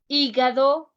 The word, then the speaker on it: hígado: You are going to notice that I almost make no sound when I pronounce the letters. Huesos. Huesos means bones. Hígado is the liver.